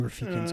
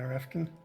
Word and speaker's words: Rafkin: I think Ruben Rafiq's going to be the guy. Yeah, Rafkin. I'm saying his name. I've said his name wrong for so long. Rafkin, is that? Yeah, there's no I in there.